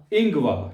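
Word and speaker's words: Ingwer: इंगवा। ठीक है, आर जो है वो पूरा नहीं प्रोनाउंस करना, इंगवा कह रहे हैं आप सिर्फ।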